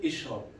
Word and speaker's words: اشرب: But if there is no Hamza like this one, if we start from here, we say Ishrab.